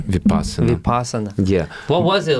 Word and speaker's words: Vipassana: Am I pronouncing it right? Vipassana.